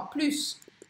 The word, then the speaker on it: plus: Quando pronuncia o S do plus? Essa pergunta é recorrente. Então, ó, plus. Quando que eu pronuncio, né? Porque vocês começam a aprender francês, aí eu falo para vocês, nunca pronuncie o S do plus, o S no final das palavras. Aí chega a palavra plus, e tem hora que eu pronuncio, tem hora que eu não pronuncio.